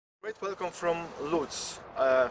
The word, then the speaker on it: Łódź: Great welcome from Lutz, from Lodz, Łódź, as you can prefer it is in Polish pronunciation.